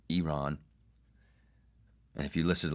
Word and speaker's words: Iran: But this mouth, at least I can pronounce Iran correctly. Iran.